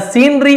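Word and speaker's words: scenery: द सीनरी outside इसे सीनरी पढ़ेंगे और कुछ सी का उच्चारण नहीं करना है।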